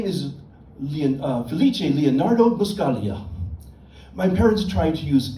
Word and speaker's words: Buscaglia: But then they made the G in my last name silent, so it will never be pronounced correctly by anyone. It's not Buscaglia, it's Buscaglia.